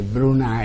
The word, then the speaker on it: Brunei: del sultano del brunei si iscriverebbero lei ma si legge bruna e così abbiamo preso sul posto quando si